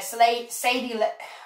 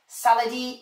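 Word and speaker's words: Léa Seydoux: you why madeline says slay sadie what had pronounced in french saladi saladi low is really is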